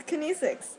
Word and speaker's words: kinesics: thought Mak a video oh I am it's kinesics and oh thought you're making a video and